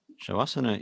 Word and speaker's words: Shavasana: Shavasana is pronounced exactly with the sound Sha. There is no sound Sa in it.